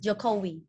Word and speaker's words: Jokowi: your concert please and his pronunciation is jacobi yes jokowi kobe all right hey